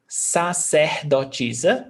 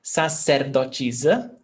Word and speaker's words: sacerdotisa: And you see that the A is pronounced as the aspiration, seh, but it can also be ser, depending on the accent. So you can say sacerdotisa, that's how I pronounce, but you can also say sacerdotisa, ser, and sacerdotisa as well.